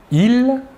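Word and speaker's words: ils: Tout d'abord, le masculin, « il », la S finale ne se prononce pas.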